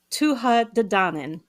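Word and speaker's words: Tuatha Dé: so say say that again how is it pronounced uh TOA D oh that's so much sexier yeah stop it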